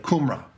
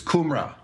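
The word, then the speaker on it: Cymru: if you see the how the Welsh pronounce their own place I can't even remember it now it's like kumra kumra it's like kumran it was known as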